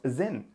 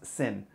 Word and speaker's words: Sinn: with him and yes it's pronounced zin and not sin so why is it